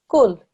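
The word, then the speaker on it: كُل: Your tongue touches the bridge of your mouth in the middle. Gaf. It's a thin sound. When we read this word, it's kul.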